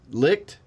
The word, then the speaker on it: Licht: second paragraph according to sources who were present licked i think that's how you say it yes